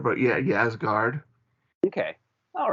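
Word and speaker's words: Ysgard: one and that's uh yazz guard how do you how do you pronounce that Dave um yeah I I mean yeah it may be official ease guard but yeah yes guard okay all right and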